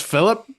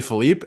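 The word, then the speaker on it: Philippe: flopping the pronunciation around so I thought it was Phillip it's it's actually Philipe and then I say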